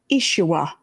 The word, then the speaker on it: Yeshua: when that individual we call Jesus the Christ, Yeshua, as his real name should be pronounced, the ultimate was in they told him, "Get yourself off of that cross.